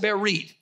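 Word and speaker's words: בְּרִית: what happened here's covenant this is the word berit it's pronounced bear reid it's the word coming you go from right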